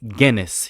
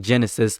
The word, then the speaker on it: Guinness: Tory color reviews and you kept mispronouncing the name Guinness. You kept saying Genesis the wolf and I kept telling you every single video and you said, "I don't care.